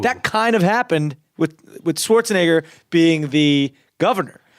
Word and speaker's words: Schwarzenegger: Did you ever meet Arnold Schwarzenegger? Not. Well, no. you're gonna meet him right now. Now you pronounce my name wrong.